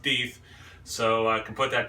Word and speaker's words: Deth: and i have confirmed it is not pronounced death it is pronounced deith so i can put